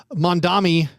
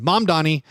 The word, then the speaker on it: Mamdani: And meanwhile, like Dolan is having his company MSG send out these statements, and then Mayor Mondami. Oh, I said it wrong again. Mamdani was being like, they asked for 900 person watch party.